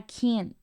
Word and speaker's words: can't: final ya no sale Y en vez de soltar este esta t lo paro y retengo el flujo del aire por ejemplo digo I can't Do it Do it